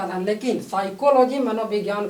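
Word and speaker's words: psychology: लेकिन साइकोलॉजी मनोविज्ञान का अध्ययन। साइकोलॉजी में आप पहले एस नहीं पहले पी आता है, पी साइलेंट हो जाता है।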